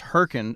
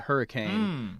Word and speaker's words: Hurricane: correction Constantin said that West Virginia City is pronounced Hurrican not uh hurricane uh so just just getting the record straight